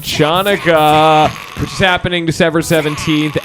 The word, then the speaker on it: Chanukah: good Donald Trump impersonator to show up to Hanukkah, excuse me. No. Pronounced that wrong. Yeah. You got that. Chanukah.